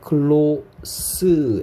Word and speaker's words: close: 얘를 close, S를 쓰라고 읽으면 형용사로서 친한, 가까운.